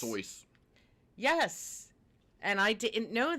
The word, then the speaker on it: Seuss: out about his name um seuss is not pronounced soon it's soyuz yes and i didn't know that so can